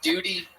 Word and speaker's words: duty: beon it is pronouned it is pronounced um with a liquid you Duty oh Duty no duty